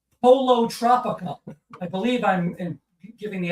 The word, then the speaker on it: Pollo Tropical: I had guava barbecue sauce at, and I think I'm pronouncing this right, Polo Tropical. I believe I'm giving the accent correctly on that. Pollo Tropical?